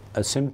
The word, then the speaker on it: سمت: سمت بھی کہتے ہیں لیکن صحیح تلفظ سمت ہے.